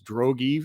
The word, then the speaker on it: Drogy: ryan drogy which uh i would pronounce it droves but he corrected us it's drogee ceo at relay payments